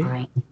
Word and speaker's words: ع: So Ain is an alphabet which is pronounced from the neck. Okay? Yeah. Pronounce Ain. Do you feel pressure on your neck? Ain, yeah. Ain. You will feel that the sound is coming from the neck, not from your mouth.